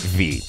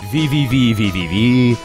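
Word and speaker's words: VVVVVV: If you've played the game V, and cool people pronounce it V. Some other people call it V-V-V-V-V-V. V-V-V-V-V-V-V. It's V.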